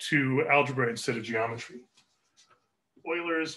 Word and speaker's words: Euler: Euler's method, pronounced Euler.